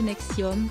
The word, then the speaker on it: NXIVM: En 2003, il a créé une deuxième entité, baptisée NXIVM, prononcée Nexium, qui chapeautait ESP, basée à Albany, capitale de l'État de New York.